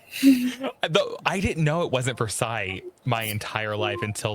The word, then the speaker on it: Versailles: My favorite pronunciation is Versailles, Kentucky. Versailles. Oh, it's Versailles.